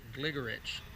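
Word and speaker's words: Gligorić: And you may know this person as Gligoric. And I've heard in one of the videos, Kasparov, Gary Kasparov, pronounces it Gligorich.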